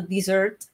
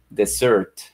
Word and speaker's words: dessert: una del español y debería ser como desert sí pero ellos dicen dessert y ser inclusive muchos